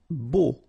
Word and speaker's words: beau: Beau. Okay, so remember we've got this strange combination of vowels, E, A, U, so three vowels, but then phonetically it's only O.